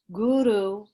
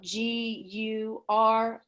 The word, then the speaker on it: Guru: On Guru, we often say it Guru. The way to pronounce it is if you can see it spelled out, Guroo, Guru. So there's a long O sound, Guru.